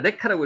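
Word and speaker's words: לך: 레크 르카가 르카라고 읽기도 하는데 레카라고 읽읍시다. 우리는 레카 레카 히브리 발음은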